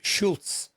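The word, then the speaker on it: Šulc: And this one relates to Paval Such the SULC pronounced Schulz.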